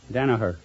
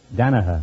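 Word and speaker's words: Danagher: how do you pronounce it Danaher Danaher yes what do you got that G in there just to fool people that's a that's a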